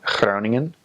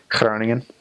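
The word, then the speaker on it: Groningen: I spell that right clowning in it doesn't have to be hyper pronounced a lot of a lot of new missionaries come out with a really G and that's not the that's very North Holland's and it's not necessarily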